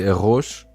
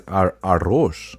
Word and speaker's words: arroz: Portugal we say arroz, but he Arroz? says arroz. How do you say it? Say it again. Arroz. Arroz. With a Z at the end. Yeah, we also with a Z, but we use the R. We arroz. Arroz.